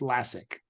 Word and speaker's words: Lascsak: last name is uh like classic without the C so it's lassic lassic okay I I went